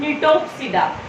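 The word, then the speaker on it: Gnetopsida: Varieties of 3 type: Cycadopsida, Coniferopsida and Nitopsida. G is silent here.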